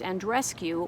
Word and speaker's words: Andreescu: because Bianca, I believe her last name is pronounced Andreescu, won the US Open championship against Serena Williams.